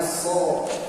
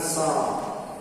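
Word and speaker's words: ص: Sehingga tadi, kalau kita sudah mempelajari teorinya, kita akan tahu kenapa huruf shad kita harus bacanya so, bukan sa.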